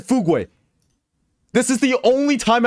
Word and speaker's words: Fugu: did I say chat it is the correct pronunciation her name is Fugu chat not fug not whatever the hell way you guys pronounce it Fugu she's literally the